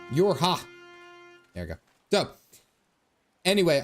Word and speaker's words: YoRHa: Pronounced like Yorha. Yorha.